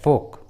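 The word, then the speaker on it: folk: देखिए इस English word में एल, ओ के बाद आया है, इसलिए एल का उच्चारण नहीं हुआ है, एल साइलेंट है, फोक।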